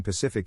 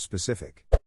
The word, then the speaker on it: specific: into fits of Rage someone saying Pacific instead of specific my wife says mannerism